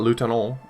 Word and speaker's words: lieutenant: the whirling in Iraq he pronounces Lieutenant differently than the other lady who pronounced Lieutenant but ostensibly they both have vaguely French accents but he pronounces it much more English then she did because the The Columns operator the radio operator pronounced at lute tunnel and he he says it very in a very English way I don't know that